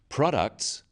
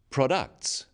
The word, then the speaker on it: products: The wrong stress makes it hard to understand. So, conclusion, not conclusion. Products, not products.